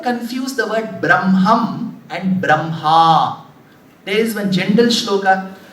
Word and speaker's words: Brahma: write it that way so if you pronounce it the way it is written how should you pronounce Brahma correct but you see when you pronounce inadvertently you will put the sound of M first Bram ha why there is a